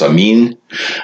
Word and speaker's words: Amen: identifies himself as the Amen now Amen is actually from a Hebrew word that's originally pronounced I mean and it's the word